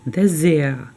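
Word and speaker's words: Dessert: буде дас де зе буква Т не читається а буква р перетворюється на звук а does Desire і не забуваємо що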